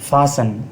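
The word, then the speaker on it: fasten: फासन बांधना T silent है।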